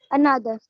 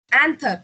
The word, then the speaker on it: anther: Another. Anther. It's anther. And Okay. third. Yeah. Very good. Option D. Anther. It is pronounced as anther.